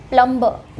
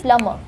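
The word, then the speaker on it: plumber: This is wrong, is प्लम्बर. But guys, that is wrong. Again, इस word में B silent होता है एंड इट इज़ प्लम्बर.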